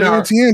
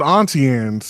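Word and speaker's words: Auntie Anne's: pretzel place here well it's not called antan it's called atian I don't know where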